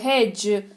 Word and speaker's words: hedge: ऐसा होता है कि डी के बाद अगर जी लगा हो तो डी का उच्चारण नहीं करते, एज, ब्रिज, हेज।